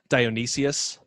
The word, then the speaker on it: Dionysius: ariel pagat the greek dude uh yeah uh dionysius thanks i knew i butchered that pronunciation it's also really weird it's